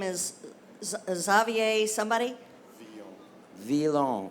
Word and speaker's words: Veilhan: Villon. Villon. He'll tell you how it's spelled.